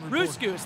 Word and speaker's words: Roosgoose: Oh, boy, also my name is pronounced Roosgoose, like a rhyme.